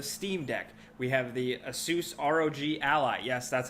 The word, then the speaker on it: Asus: how you say it you actually say it Asus I know people make fun of me but I literally asked the company they that's how they say it but the newest thing